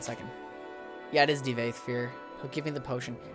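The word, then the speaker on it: Divayth Fyr: Actually, how do I pronounce his name? 1 second. Yeah, it is Devaithfear.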